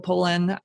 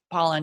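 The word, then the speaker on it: Pollan: by that um Michael Poland it's Paulin or Poland I always want to say his name wrong but pollen yeah from the food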